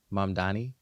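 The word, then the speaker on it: Mamdani: Mandani.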